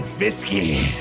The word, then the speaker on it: Fiske: Jared ver and Brian fisky that's right I pronounce the e in Fisk braen fisky it's fisky my boy fisy I